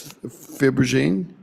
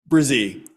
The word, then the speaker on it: Brzee: Okay, it's Fibrogene? Brzee. Brzee, okay. Yeah. See? It looks like it's spelled breezy sometimes, so.